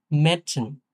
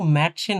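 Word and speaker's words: Mädchen: Word তৈরি করা আছে মেডসিন, মেডসিন, হ্যাঁ? এটা কিন্তু ম্যাডসেন হবে না, মাডসেনও হবে না, মেডসিন, হ্যাঁ? কিছুটা এর মতো উচ্চারণ হবে মেডসিন।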